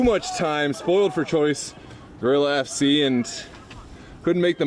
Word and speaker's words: Guerilla: it up the field so it is pronounced gorilla thank you BD for letting us know it's like gorilla Warfare okay for my Spanish